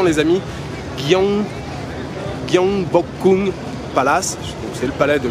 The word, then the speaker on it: Gyeongbokgung: Bref, je suis arrivé au palais de, alors la prononciation les amis, Gyeongbokgung Palace, c'est le palais de Gyeongbokgung.